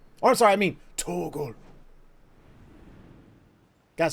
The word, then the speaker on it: Torgal: Torgal! Oh, I'm sorry, I mean Torgal.